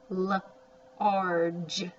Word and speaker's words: large: That's a soft G. It says a just sound. Large, large.